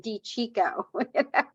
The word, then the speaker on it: DiCicco: years to wrap his wrap his tongue around D Chico he's from Colorado so you know yeah yeah